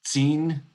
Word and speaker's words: Sin: It just happens to rhyme with our English word sin.